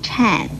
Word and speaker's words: 忏: 这个颤字的国语注音是吃暗颤，四声颤。